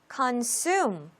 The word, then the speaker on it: consume: consume, consume. 두 번째 음절에 강세가 있죠.